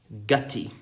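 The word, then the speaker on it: guttae: And these are called gutti. I almost want to say it's pronounced like slutty, but I won't.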